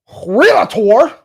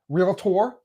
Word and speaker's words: realtor: Now, if I was a licensed realator, did I say it right? Realtor.